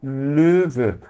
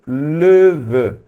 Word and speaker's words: Löwe: Em alemão a gente diz der Löwe. Para pronunciar esse O com trema, eu faço a boca do O e reproduzo o som do E. Então fica assim, E. Portanto, Löwe, que seria o leão.